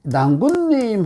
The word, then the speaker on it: 낭군: 가진 글자였구나 근데이 글자의 원래 음가는 원래 은가는 랑이잖아요 신랑할 때 근데 이게 낭군님 하면 낭군님 하면 이때 낭으로 발음하잖아요 두음법칙 다 아시잖아요 등 법칙에 대해서 낭의를